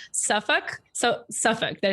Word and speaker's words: Suffolk: And I know you're located in, I can say this correctly, Suffolk.